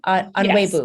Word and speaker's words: Onuegbu: I'm your host, Teri Tkachuk, and I am thrilled today to have Onuegbu, did I pronounce that correctly? Onuegbu.